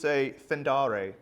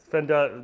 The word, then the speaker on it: Fender: on your Deluxe Fendare. Fender.